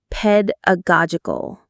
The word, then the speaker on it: pedagogical: Pedagogical. The main stress is on the go syllable.